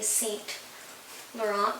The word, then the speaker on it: Saint Laurent: it, we would say Saint Laurent, but when I checked it, the proper and the technical way to say this is you don't pronounce the N and T.